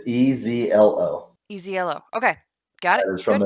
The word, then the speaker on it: Ezlo: It's EZLO. EZLO. Okay, got it. That is from the Historia itself. So it's probably Ezlo. Anywhere else. Ezlo. There you go. Ezlo, whatever.